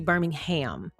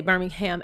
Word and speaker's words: Birmingham: Someone told me I was saying it wrong. Someone said it was supposed to be Birmingham. Now, that is how we say Birmingham, Alabama, Birmingham, which is actually one of my favorite places to visit.